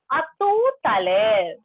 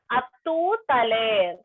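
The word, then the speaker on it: à tout à l'heure: We atu taler means see you very soon, and you can pronounce that R here. R is not silent.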